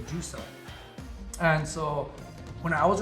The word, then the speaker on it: JVICE VP: So all I did, I substituted the U's with V's.